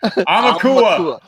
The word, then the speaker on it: Aumakua: Aumakua. Just think like owl, because it's AU, and that's owl in Hawaiian. So Aumakua. And then 500 is the Mana Motherlode original art.